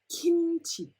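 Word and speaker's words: 김치: Okay, so when it's in the first syllable, alright, it's pronounced as a K.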